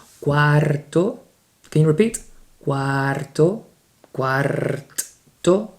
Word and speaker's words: cuarto: Cuarto. Can you repeat? Cuarto, cuarto, cuarto. If you can pronounce the R, just make your tongue roll a little bit, make some sort of noise. Cuarto, very, very light.